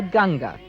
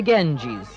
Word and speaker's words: Ganga: Flowing through this Himalayan town is the Bhagerati, one of the great tributaries of the Ganga, which the Greeks mispronounced as the Ganges.